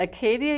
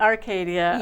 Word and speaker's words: Arcadia: your plans with that oh did i not say it right arcadia okay thank you acadia is the national park in maine a lot of people get them mixed up yeah yes i'm